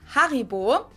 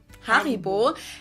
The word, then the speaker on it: Haribo: We pronounce it Haribo. Haribo.